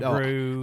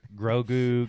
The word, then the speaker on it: Grogu: said his name wrong all weekend. Like Me and- Gogru, I couldn't say it right whenever on the podcast last week. Yeah. Jacob had to keep correcting me. Gogurt, Grogu, Gogru.